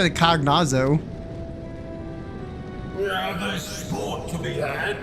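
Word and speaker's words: Cagnazzo: In order to guarantee success, however, I will require Cagnetzos. Cagnetzos? That's how you pronounce it? I always call it Cognazo.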